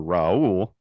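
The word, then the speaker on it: Raúl: Name I'd ever heard along those lines were Raul um I I I don't know how we got into the conversation but I told you no his name's Raul even though I listen to the games on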